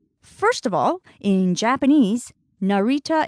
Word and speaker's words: Narita: of all in Japanese Narita Airport is Narita Narita let's break that down by syllable Narita is the name